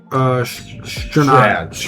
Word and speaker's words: Sternad: Or It's like Sternad or some shit. Justin Sternad. Yeah, I said it right.